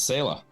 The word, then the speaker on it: Selah: with Todd Smith of Salah Todd I said that right right you said it right it's sailor so it comes from an